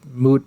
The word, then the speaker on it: moot: anyway i believe the term is mute point joe don't i mean it is moot point isn't it yes he's just yeah